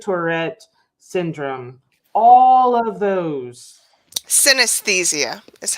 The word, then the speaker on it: synesthesia: dirty sorry disorders substance use disorders and addiction synthethia and tourette syndrome all of those synesthesia is how you pronounce that last one thank you appreciate it